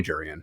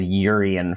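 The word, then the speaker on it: Jurrien: what I'll stick with I do remember hearing at some point it was jurian you pronounce the j we I suppose that we sort of said yurian for a while like in Dutch in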